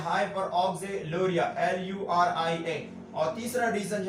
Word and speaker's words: hyperoxaluria: इसका प्रोनाउंसिएशन है हाइपरकैल्सीमिया और इसका मतलब है हाइपर ऑक्सिलूरिया और इसका नाम है हाइपर यूरिसीमिया।